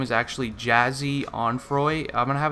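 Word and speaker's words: Jahseh: yeah I guess I'm pretty sure it's pronounced jazzy it's actually jazzy Dwayne on Froy and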